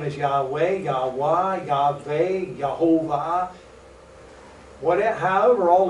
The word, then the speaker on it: Yahweh: The rabbi thought for just a moment and he said, Yahweh.